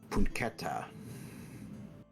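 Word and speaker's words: Punketah: spell that from now it's p-u-n-k-e-t-a-h oh my God I got every letter correct except for I left out the h yes it's silent at the end of him I was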